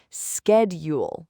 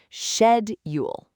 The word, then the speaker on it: schedule: So the common mistake is to say it like schedule. Have you ever said it that way? I'm sure so many listeners have. It sounds so logical, right? But that's not how we say it. No, the correct way is schedule. Schedule, not schedule. Shed. That first syllable is so important. It's shed, not sked.